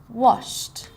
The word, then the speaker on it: washed: Washed. Sounds like a T.